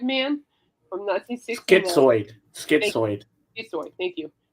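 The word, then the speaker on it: schizoid: So King Crimson basically invented progressive rock with 21st century shis shizoid man from 196 skitsoid.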